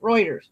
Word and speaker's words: Reuters: Yeah, leave it to a Cuban to mispronounce something German. Thank you, rhetorical. Reuters.